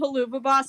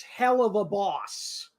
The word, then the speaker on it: Helluva Boss: wait wait wait yeah first off you're pronouncing it wrong it's hell of a boss no it's like it's like if you say hell of a really quick hell of a that's where you get the uva thing that's like hell